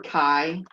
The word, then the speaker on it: chi: This sounds like chi or like bi. Rhymes with bi. The symbol for chi is a funky looking X.